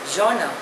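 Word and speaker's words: genre: making anti national comments the next word is जना spelling is जीई एन आर E pronunciation is जोना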